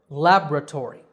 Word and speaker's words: laboratory: have another scientific word laboratory that's the American pronunciation laboratory with the stress on the first syllable laboratory the British version